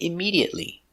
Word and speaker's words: immediately: immediate immediately immediately immediately five syllables immediately stress on a second syllable immediately immediately immediately immediately